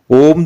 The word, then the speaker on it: ओम: सकारात्मक प्रभाव पड़ता है ओम पवित्र ध्वनि है इसका उच्चारण करते समय तीन अक्षरों की ध्वनि निकलती है यह तीन अक्षर अ उ म है इन तीनों अक्षरों में